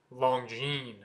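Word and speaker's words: Longines: long jeene it's not long jeans the S at the end is silent as in most French words so it's just long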